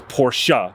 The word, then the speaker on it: Porsche: people say porsche or they say porsche it's porsha but check this bad boy out if you